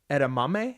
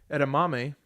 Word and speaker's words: edamame: Kat decided to order edamame.